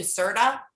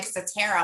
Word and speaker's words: Satara: Jen will tell you, I have been calling you Serta since I've known you. And when you mentioned it, you're like Satara. I'm like, of course it's Satara.